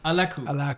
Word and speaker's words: Alakkuu: I'm like, So and you pronounce it Alakkuu. Alakkuu.